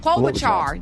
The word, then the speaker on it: Klobuchar: Yeah, Klobuchar.